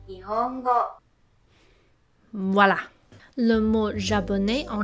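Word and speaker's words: 日本語: En japonais, il se prononce Nihongo.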